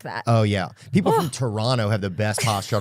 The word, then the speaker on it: Toronto: People from Toronto have the best posture.